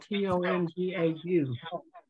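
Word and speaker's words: tongau: It would be spelled T-O-N-G-A-U. T-O-N-G-A-U. Tonga. Yeah, Dami. Like that? Interesting. Right. Okay. And that N in there is nasal too, you know.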